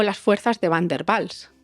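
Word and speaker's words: Van der Waals: o las fuerzas de bander bals que se escribe con w pero también tenemos otro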